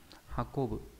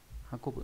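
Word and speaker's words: 運ぶ: Chữ vận này có âm cương là hakobu, hakobu là vận chuyển này.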